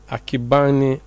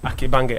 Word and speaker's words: Akibange: Did I pronounce your name well? Not really, but I'll Please forgive you for that. Yeah, forgive me, but pronounce it. Let me hear. I like to hear how it sounds. Akibange. Akibange. Yes. Yes.